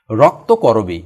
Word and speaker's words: রক্তকরবি: হচ্ছেন মাইকেল মধুসূদন দত্ত রক্তকরবি মনে রাখতে হবে এটার উচ্চারণ কিন্তু করবি নট কবরি রক্তকরবি কি রক্ত করবি হচ্ছে